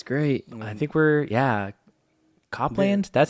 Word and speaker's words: Copeland: Copland.